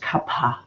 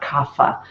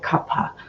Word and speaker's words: kapha: But the kapha makes us, and by the way, it is pronounced kapha, not kapha. That's more of a Hindi pronunciation. In Sanskrit, you would say kapha.